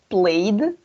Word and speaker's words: played: Okay, we're going to say here played. Está bien con ed, pero vamos a pronunciar played. Aquí la E es muda, entonces terminamos con la D.